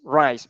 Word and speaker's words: rise: Okay, just remember it is rise. It has the Z in the last, so please pronounce this.